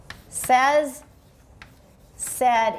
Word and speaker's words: said: sense that they are said on the same. Said. Everybody watch this one. Another commonly mispronounced word. We talked about it before. Says, said in standard American.